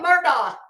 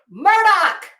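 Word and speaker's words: Murdaugh: where I'm coming from you kept calling him Murdock it's Murdoch and I don't care if you heard other people pronouncing it Murdoch he told you it's Murdoch but that's just a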